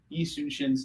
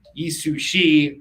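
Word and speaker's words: Yi Sun-sin: you can't get confused now a lot of people um you know mix it up and they they say uh you know yi sushi or shishu yi but they're just not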